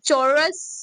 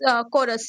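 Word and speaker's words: chorus: लिखा हुआ है कि the world a चोरस कोरस आई am sorry कोरस which begins with the letter C एच is pronounce with the के।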